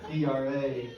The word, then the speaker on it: Draheim: Let's say it rhymes with ham or spam or graham, as in a graham cracker, you got it.